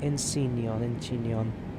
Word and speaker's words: Incheon: Incheon.